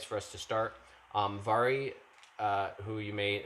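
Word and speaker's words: Mhairi: a i r i is pronounced vary with a v sound because it's a gaelic um she has been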